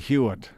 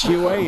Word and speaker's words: Hewitt: Well, I like to call your goalie Hewitt. I don't know why, because of the spelling, but really that's not how you pronounce his name. It's Hewitt, is it not?